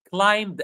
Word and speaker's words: climbed: Climbed again. The B is silent.